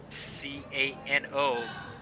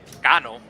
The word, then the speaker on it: Cano: I always remember the baseball player from the Yankees, Robinson Cano, C-A-N-O, which is actually pronounced Cano. Top pair for Freddie Lay. Yes. So it's Robinson Cano. That's how you pronounce it.